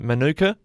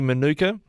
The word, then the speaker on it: Manuka: First of all, have I got that pronunciation right, Manuka? Absolutely. I know sometimes I used to work in Canberra a bit, and Manuka is what they call one of the suburbs there, but it's definitely Manuka.